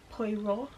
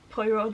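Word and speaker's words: Poirot: I've watched the show poo like I I struggle to pronounce those kinds of things in English but I think poo is right um so like I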